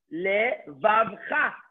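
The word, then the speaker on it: לְבָבְךָ: Alama with the shva is le. A vet with a kamat is va. The vet is silent. I connect it to the vet, to le, vav. And then the final chaf has a kamat. Le, vav, cha.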